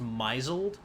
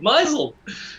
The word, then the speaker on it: misled: She tried to convince us at one point, completely serious, that misled was pronounced misled. I like it. Misled.